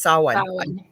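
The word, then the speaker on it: Samhain: probably don't say that right saw actually it's saw I completely blanked until I just went no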